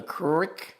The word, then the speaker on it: Qrick: This beautiful cool knife called the Crick. And this particular knife is spelled QR Q R I C K. Very strange spelling. And we've had people say, "Well, you sure you're saying that right?" Honestly, I think so.